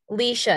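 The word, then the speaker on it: Laoise: Louise King. Leisha, it's Irish. Leisha.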